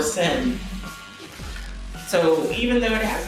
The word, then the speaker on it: Shem: And the pronunciation is not supposed to be like Shem. Okay? It's supposed to like or Sem.